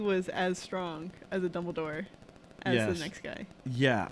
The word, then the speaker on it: Dumbledore: What do you keep calling him? Dumbledore, right? Dumbledore. Yeah. What am I saying? Saying it wrong. Whatever. You put an F in there.